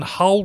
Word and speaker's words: Hull: And for those playing at home, there's a reason Hull rhymes with dull.